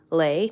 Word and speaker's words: Le: I did watch like a video essay from Mina Lay, I think is how she pronounces her last name. Lay, not Lee.